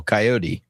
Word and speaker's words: Kayode: It's actually like the animal coyote. Coyote. His name is Coyote.